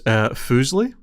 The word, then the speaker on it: Fuslie: So the first one is Fuslie. Fuslie, like the pasta. It's spelled differently.